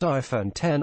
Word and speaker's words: iPhone X: 7 iPhone 8 and iPhone X pronounced iPhone 10 all continue to implement